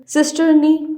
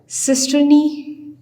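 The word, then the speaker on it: cisternae: तो सिस्टर्नी भी आप इसको कह सकते हैं क्योंकि सी साउंड्स जो है वो स और क दोनों का साउंड देता है, तो थोड़ा सा बायोलॉजिकल प्रोनाउंसिएशन में डिफरेंस आ जाता है।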